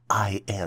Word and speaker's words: indices: The plural version for indexes is spelled as I-N-D-I-C-E-S and is pronounced as indices.